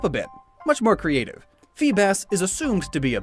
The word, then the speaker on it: Feebas: Feebas is assumed to be a bass, and it transforms into a beautiful serpentine sea dragon. Fun fact, Feebas's name Beautiful. phonetically is the same as Phoebus, which means shining one